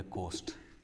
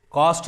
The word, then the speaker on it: coast: रहा है, इसको बोलेंगे कोस्ट, किनारा समुंदर का। कॉस्ट नहीं पढ़ेंगे इसको, कोस्ट स्पेलिंग भी देख लीजिए आप, COAST।